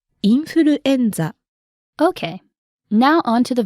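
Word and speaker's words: インフルエンザ: say influenza in Japanese it's very similar in Japanese you say infuruenza okay now on to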